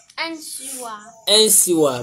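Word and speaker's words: nsesaawa: Gina, how do you pronounce it? No, it's not. It's, not. It's what? Nsiwa.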